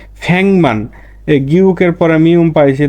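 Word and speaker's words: 백만: আবার আর একটা দেখেন, ফ্যাকমান। ফ্যাকমান মানে 10 লক্ষ। এই ফ্যাক মানে 100 আর মান মানে 10,000। যখন একসাথে 10 লক্ষ বলবেন বা লিখবেন তখন আপনাকে বলতে হবে কি? ফ্যাংমান।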